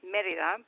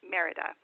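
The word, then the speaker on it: Mérida: city of the state is Merida so it's pronounced Merida but for most people don't say it Merida the local the state is located directly next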